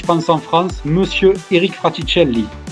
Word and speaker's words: Fraticelli: en France, monsieur Eric Fratielli. Je l'ai bien prononcé. Impeccable. Bravo.